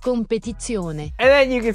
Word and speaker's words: Competizione: The Competi Zone. It's pronounced Competizione.